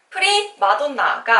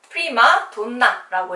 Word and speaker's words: 프리마돈나: 프리마돈나가 아니고 프리마돈나라고 읽어야 합니다.